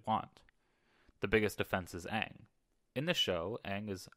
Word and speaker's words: Aang: no reason at all aang becomes ang and iro was pronounced ero none of this makes